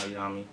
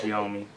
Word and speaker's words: Yomi: For those who don't know, and call me Yomi. It's not Yami, Young, or Yumi, or none of that. It's Yomi.